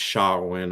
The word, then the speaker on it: Samhain: mean they call him samhain yeah in the cartoon i guess if you're going to be real real particular it really should be pronounced shawn or something like that but he comes with